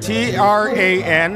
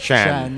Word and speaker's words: Tran: And his name is spelled T-R-A-N, Tran, but it's actually really pronounced Chan.